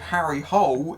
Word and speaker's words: Harry Hole: A scowling Michael Fassbender plays Detective Harry Hole. Yes, it really is pronounced that way because they got that wrong too.